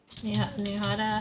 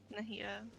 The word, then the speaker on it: Nahida: Nihada, how do you say her name? Already. Nahida.